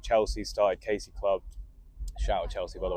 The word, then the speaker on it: Casey Club: So it's like Casey and then Casey Club, like spelled phonetically.